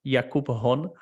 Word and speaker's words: Jakub Hon: of us okay so in the checkway it's pronounced yakubhon so it's but in